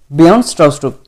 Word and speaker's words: Bjarne Stroustrup: So the pronunciation is Bjarne Stroustrup, the J is silent here.